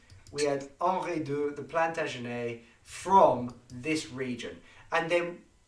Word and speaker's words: Plantagenet: So we had Henri d'Anjou, and he became king, and this is the family Plantagenet. Correct my pronunciation, please.